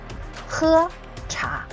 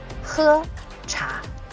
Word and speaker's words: 喝茶: So, 喝茶, 喝茶.